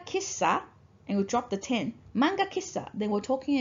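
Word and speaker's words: 店: Now this kanji is pronounced as ten when you combine with other words, such as kissaten.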